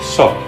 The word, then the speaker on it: Seok: It begins with a S. sound, and in English we call that an S. The second letter is the vowel, and it's pronounced, O. and in English we would spell that E-O, Seok, Seok. The third letter is, 윽. in English we would call it a K. Seok.